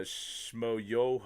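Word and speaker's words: Schmoyoho: is actually to watch what is it, Shamoyo, accent on the yo, does all like the songify the debate stuff. No, I don't know anything about that. That's a YouTube channel. It's a Shmoyoho or something like that.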